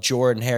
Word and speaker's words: Jordan-Hare: Even though it's spelled Jordan-Hare, you say it Jordan-Hare.